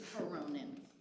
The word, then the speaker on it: Veronin: Everybody mispronounces it. It's Veronin. Yeah, okay, that's not good.